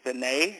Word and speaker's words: Veney: good so I am talking with Mr vet is that the correct pronunciation of your name yes you're the first